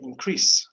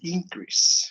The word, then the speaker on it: increase: we have to say increase as a verb but if we are talking about a noun we have to say increase we have to say just opposite it has the opposite pronunciation okay as a verb